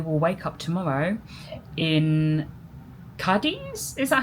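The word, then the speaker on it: Cádiz: Um, so we're going to go to bed and we will wake up tomorrow in Kadis. Is that how you say it? Cadis.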